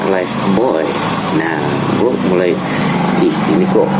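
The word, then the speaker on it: Lifebuoy: Terus waktu itu gue ingat ada sebuah iklan gitu ya, itu ada tulisannya Live Boy. Nah, tapi di iklan itu dibacanya Life Boy.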